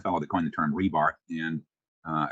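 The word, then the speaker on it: RBAR: that coin the term rebar and uh I realized there's no e in there but I pronounce it rebar because it reminds me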